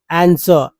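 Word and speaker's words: answer: आंसर, आंसर, आंसर, जिसमें इसमें भी देखिए डब्लू जो है, ये डब्लू भी साइलेंट लेटर है। आंसर, नॉट डब्लू का उच्चारण नहीं है, कुछ लोग आंसर बोल देते हैं तो उच्चारण गलत हो जाता है।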